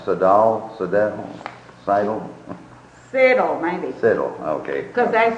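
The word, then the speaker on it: Siddall: spell it S-I-D-D-L-E, and you can kind of tell how the thing was pronounced the way they spelled. I see. That's why I say it's Siddle.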